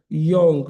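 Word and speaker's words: Jung: are all based on a psychologist called Khal Young. Young is spelled with a J u n g.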